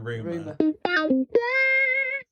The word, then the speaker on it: Rumer: I've never heard it spoken. Oh, it's Rumer. Is that how you pronounce it? Yeah, Rumer.